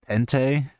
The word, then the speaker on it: Pente: Dude, we gotta start the pent. We gotta start the pent meta. Yes. Instead of playing chess, we're just gonna play pent all the time. And it is pronounced pente, but that's lame, dude.